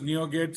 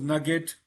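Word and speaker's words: NuGet: Okay, it's pronounced as NeoGet. Some people pronounce it as Nugget, right?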